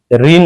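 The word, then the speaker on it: reign: के साइलेंट होता है। नोक मी्स खटखटाना। री ऋण इसको बोलते हैं।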